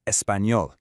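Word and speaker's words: español: pronunciation in the word espanol. It sounds a bit like an N and a Y squeezed together. Let's practice. Do you speak English? I don't speak Spanish. No espanol.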